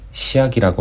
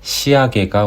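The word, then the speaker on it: 仕上げ: 그라인더로 철판의 날카로운 끝부분을 부드럽게 하거나 자재의 절단면에 생긴 바리를 없앨 때 시야기라고 말하죠. 쓰임은 똑같은데 발음이 바뀌어서 사용되는 것 같습니다. 시야게가 올바른 표현이 되겠습니다.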